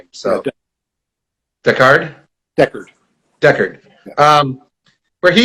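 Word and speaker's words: Decherd: There was also a quote from the CEO, Robert, and I don't know how to pronounce his last name, Yeah, so Deckard, Deckard.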